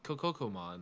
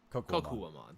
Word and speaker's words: Kokuwamon: Yeah, I'll go with Kokokomon or however you pronounce that. Kokuwa. Kokuwamon.